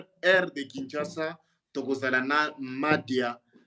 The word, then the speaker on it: Madia: En tout cas, soki nano moni nano yoki ete kende oluka ye Madia ka ndenge oyoki na prononce yango M-A-D-I-A Madia Nia eza N-E-A-H.